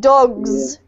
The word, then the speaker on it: dogs: Don't forget that in docs, you've got a nice snake S sound, and with dogs, you've got the Z, okay?